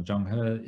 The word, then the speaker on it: Zheng He: which histories, in particular, to give it the Chinese pronunciation of Zheng He, is understood differently in